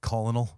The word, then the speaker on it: colonel: sounds about right yeah it's like colinal for Colonel it's like ah all